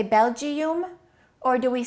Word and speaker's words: Belgium: Do we say Belgium or do we say Belgium? So the I and the U sound exactly the same as the E in Sweden.